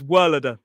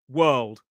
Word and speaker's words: world: There is a sound that makes whirlada. Some people say whirlada when it's world, one syllable.